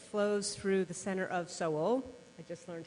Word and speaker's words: Seoul: the Han River flows through the center of soul I just learned how to pronounce that correctly thank you Jim and it's